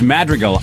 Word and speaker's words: Madrigal: No, people screw it up all the time. And I I don't care. It's Madreal. I I say it wrong.